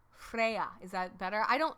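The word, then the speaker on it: Freyja: to say Freya like do you want me to pronounce the J you're not supposed to pronounce the J ding-dong not British I'm Welsh Freya Freya is that better I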